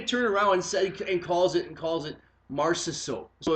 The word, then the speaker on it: Marchessault: It's not like he's Marchessault. it's Marchessault. yeah. And then he said it one way, so Stop. then he turned around and calls it Marchessault.